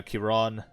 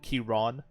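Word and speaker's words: Ciarán: followed by Sir Finnen, Sir Kiron or Karen, however you want to pronounce it. I believe in uh in true like Irish fashion, it's like Kiron, Kiron. So, Sir Kiron.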